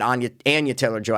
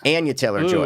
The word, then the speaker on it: Anya Taylor-Joy: I feel like he might have done that because he wanted Anya Taylor-Joy. I didn't know that's how you pronounce it. Is it? Anya Taylor-Joy.